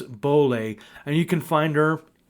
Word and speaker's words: Boehler: So my guest today is Denise Boehler, even though it's spelled Boehler, Denise Boehler.